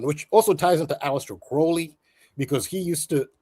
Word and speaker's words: Crowley: Crowley, which he mispronounces Crowley. It's pronounced Crowley, but he pronounces Mr.